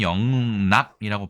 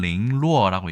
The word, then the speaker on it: 零落: 그래서 영락이라고 하면 우리나라에서는 영락이라고 발음하고요. 중국에서는 링루어라고 얘기를 합니다. 일본에서는 레라크라고 얘기해서 오랜만에 또 한중일 삼국이 같은 한자 비슷한 발음을 사용하고 있음을 알 수 있습니다.